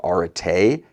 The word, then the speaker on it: arete: so, I took it from a Greek word, arete, is how that's pronounced, and that's where Aretec came from, but